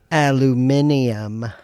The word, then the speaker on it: Aluminium: of silver and aluminum, or as the Brits would say, Aluminium. I don't know if that's an extra syllable, but you're saying it pretentious and stupid.